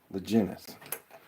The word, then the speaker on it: Laginnis: I thought at one point you said it was a G, like a hard G sound. I know Brian says it with a soft G. I've always appreciated having a name that was easily recognizable. The last name. Legin. Gin, with the G, but gin, not gin.